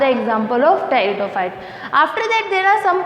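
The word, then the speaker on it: Pteridophyta: ब्रायोफाइटा के बाद next हमारा है टेरिडोफाइटा। इसमें पी साइलेंट होता है इसलिए हम इसको टेरिडोफाइटा बोलते हैं।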